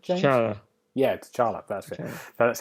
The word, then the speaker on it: T'Challa: T'Challa? Is that right, James? T'Challa.